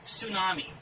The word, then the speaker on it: tsunami: is actually the word tsunami they decided to put a silent T at the beginning of it this one right here